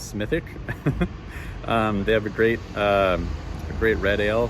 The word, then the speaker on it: Smithwick: the the Smithwick Brewery which they pronounce smithic they have a great